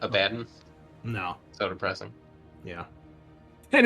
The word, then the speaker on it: Abaddon: It's not Arbites, so, but it is Abaddon. So Not Abaddon?